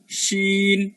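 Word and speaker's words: ش: তারপরে আমরা বলছি শিন, এটা এই যে শিন, তাহলে জিম শিন এবং ইয়া এই 3টা হচ্ছে আমার জিহ্বার মধ্যভাগ উপরের তালুতে লাগায়। তাহলে এই শিনটাও জিহ্বার মধ্যে উপরের তালুতে লাগে একটু মোটা করে আনতে হবে, এবং এখানে শি শি শিন উচ্চারণ করতে একটা শি শি শব্দের মতো, শি শি শব্দের মতো হবে। তাহলে শিন শিন।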